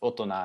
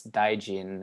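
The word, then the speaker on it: 大人: So when read as in the Japanese way, this would be pronounced otona, and it means adult. And when it's read in the Chinese way, it's daijin, and it means mahasattva, the great being.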